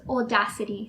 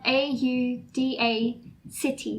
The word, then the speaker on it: Audacity: So we both use Audacity. So it's spelled A-U-D-A City, like C-I-T-Y, Audacity.